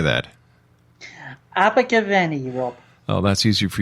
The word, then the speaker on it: Abergavenny: Abergavenny, Rob.